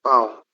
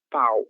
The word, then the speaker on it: pão: Como eu falei para vocês, a gente tem que ter cuidado com essa palavra, para não falar pau, e sim pão, certo? São sons diferentes que apontam para coisas diferentes também, ok?